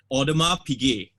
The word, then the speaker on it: Audemars Piguet: The Audemars Piguet Royal oak. Okay. That's how you pronounce the brand.